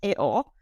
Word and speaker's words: EO: And in the film, as he is pronounced, Eo, I really loved the idea of seeing the